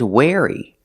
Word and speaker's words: wary: Pronunciation, wary. Using the air sound like chair and hair.